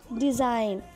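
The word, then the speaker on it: design: डिज़ाइन, जी is silent.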